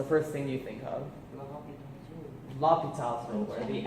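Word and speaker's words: L'Hôpital: L'Hopital's rule, where the x is silent.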